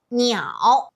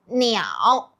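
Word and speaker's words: 鸟: We got Xiao, Niao, Shao.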